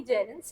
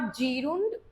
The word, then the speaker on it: gerund: इट्स जेरन, नॉट जीरुंड और गेरुंड. That's ji रन, जे रन. देखिएगा जेर, ये मैंने यहाँ पे लिख के भी रखा है ताकि आपको क्लियर हो जाए. ओके, जेरन, जे ज से शुरू होगा.